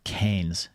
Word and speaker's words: Keynes: and Lord John Maynard Keynes. I'm pronouncing his name correctly because I learned how to pronounce it from the book. Keynes. It rhymes with brains.